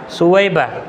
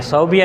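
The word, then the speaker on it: ثویبہ: بنتا ہے سویبہ کا۔ اور لکھنے میں کبھی کبھی غلطی ہو جاتی تھی کہ سویبہ کی جگہ پہ صوبیہ لکھ لیتے تھے، کیونکہ با کا تلفظ جو ہے وہ آسان لگتا ہے، قریب لگتا ہے، اس لیے بولنے کی وجہ سے صوبیہ کہہ دیتے ہیں، صوبیہ نہیں ہے، سویبہ۔ یہ سویبہ کون عورت ہیں؟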